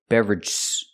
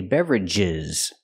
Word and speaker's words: beverages: using in two expressions I cannot pronounce the word beverag drinks and beverag I have to separate the sound and say beverages beverages drinks and Beverages